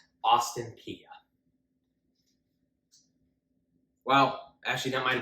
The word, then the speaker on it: Austin Peay: Austin Peay.